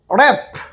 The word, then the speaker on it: wrap: WRAP র্যাপ, ডাব্লিউ উচ্চারিত হবে না, এটা শুধু লেখার মধ্যে আসবে।